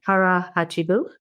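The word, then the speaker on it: hara hachi bu: Harah Hachibu.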